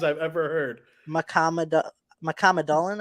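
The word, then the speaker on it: Mukhamadullin: The Sharks received Shakir Mohammedullin. Ooh, that's one of the first pronunciations I've ever heard. Mohammedullin, I think. You're so close. It's Mohammedullin.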